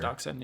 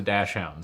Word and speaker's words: dachshund: Apparently, it's dachshund. It's Dachon. It's definitely dash. I thought there was dash. No, it's actually pronounced dachshund.